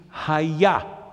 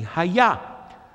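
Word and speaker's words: היה: Simply the word was in Hebrew is haya, spelled with hey, yud, hey. Once again, each one even alone is the name of God. Together, definitely, haya.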